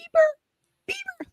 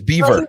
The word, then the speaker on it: Bieber: And I mean, the girls, Justin Bieber. Now I'm saying it correctly? Yes. Yeah, it's with a V. It's Beaver. It's Bieber, that's for sure.